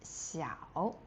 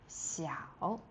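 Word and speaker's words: 小: And opposite is xiao. Xiao. And the X in Pinyin is x so x i a o xiao. The third tone is really low.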